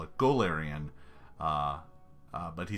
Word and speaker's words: Golarion: So, Golarion, we generally call it Golarion, but he said Golarion, which is very different.